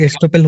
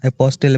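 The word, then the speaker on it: estoppel: ठीक है, प्रोनाउंसिएशन फिर एस्टोपेल होना चाहिए ना, अपोस्टल अपोस्टल बोल रहे हैं आप, इसलिए मैंने पूछा। हाँ यार एस्टोपेल, एस्टोपेल, हाँ एस्टोपेल बोल सकते हैं, आई थिंक शायद मेरे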